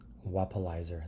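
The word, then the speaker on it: Wappalyzer: If I use Wallpaperize, Wapalizer, that's how you say it, Wapalizer.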